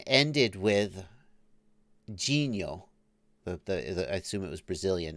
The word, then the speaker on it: Dinho: And I was like, that is not how you say it. It's Genio, because it's spelled in, for those who don't speak Portuguese, it's spelled D-I-N-H-O. In Brazilian Portuguese, at least, the N-H is pronounced Nha.